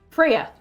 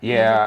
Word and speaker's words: Freya: Now I say the name wrong. How do you say this name? Freya. Freya. Mhm. All right. I don't ever say. So this is Frea.